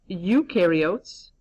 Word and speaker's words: eukaryotes: Eukaryotes, okay, that E is silent, eukaryotes.